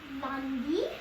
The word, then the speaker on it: lundi: Monday is Lundi.